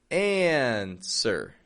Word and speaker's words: answer: Answer. And notice in that word, by the way, it is spelled with a W, A-N-S-W-E-R. The W is not pronounced, my friend.